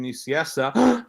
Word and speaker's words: Nicieza: my website which is fabian niciessa that's how it's pronounced uh com uh or